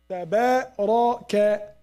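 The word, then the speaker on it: تبارك: And I pronounce after that ra and kaf. Tabaraka. Everything is clear, right?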